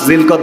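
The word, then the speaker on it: ذو القعدة: এই মাসটির নাম হলো জুলকদ এই মাসটিকে আমরা আরবিতে বলি জুলকদ আর বাংলাতে যারা আমরা উচ্চারণ আরবিতে পারি না তারা আমরা বলি জিলকদ কি বলেন ঠিক কিনা তো আরবি উচ্চারণ হচ্ছে জুলকাদা প্রিয় তাওহীদ জনতা আমার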